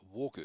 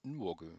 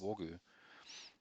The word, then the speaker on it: Nwogu: Jordan, I believe it's pronounced Wogu. I was trying to put the N in it last night and call him Nwogu, but I believe it's just Wogu.